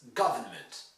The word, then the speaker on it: government: And here again, the stress is on government. It's not government. Most students still learning English will get this wrong by pronouncing it closer to the French model. Government. No, it's government. Government. You only hear ga, in fact.